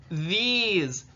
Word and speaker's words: these: have e e in our last e is silent it's that magic e what's what's the word that those make e that's right the word is these these these high frequency